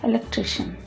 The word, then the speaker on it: electrician: The next important word that is commonly mispronounced is electrician. A person who is very helpful when there are no lights in the house and there's no electricity. So he's an electrician and not electrician.